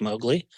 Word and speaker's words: Mogli: you have this uh I'm going to pronounce it incorrectly mowgly is that how you pronounce that's correct mowgly so what does mowgly